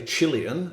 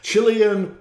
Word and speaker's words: Chilean: And there was an article on there about Pablo Neruda, the Chilean, as Americans say, Chilean, as the British say, Chilean poet, who died 50 years ago in 1973.